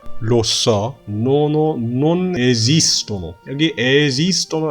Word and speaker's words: esistono: 여기 esistono 할 때 S가 처음 거는 유성음이에요. esi. 그 다음 두 번째 S는 들리시나요? 이렇게 무성음으로 S라고 발음해야 됩니다.